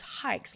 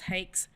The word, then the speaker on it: Haix: x and it's either it's hikes like you're going hiking that's the best way to remember it otherwise it's hakes hacks hayaks you know